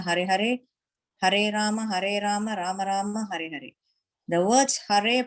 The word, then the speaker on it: Rama: Hare Krishna, Krishna Krishna, Hare Hare, Hare Rama, Rama Rama, Hare Hare. The words Hare pronounced Hare, Krishna Krishna, and Rama rhymes with drama are Sanskrit words.